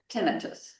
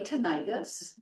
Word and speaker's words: tinnitus: So next slide it is tenitus. A lot of people say tenitis and what you have to remember is that the suffix itis actually means infection. So we all know laryngitis very common itis at the end menitis there's a lot of things that have that on the end and it's it's infection but tinitus is not an infection um and it it's